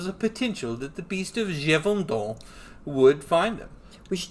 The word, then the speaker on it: Gévaudan: They mispronounce that horribly. It's Gévaudan.